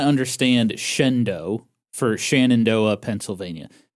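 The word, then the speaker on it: Shenandoah: in Eli, Nevada, in Shannondoa, Pennsylvania. Uh, apparently that's not how they're pronounced. It's actually Elely, Nevada. Uhhuh. And Shendo, Pennsylvania.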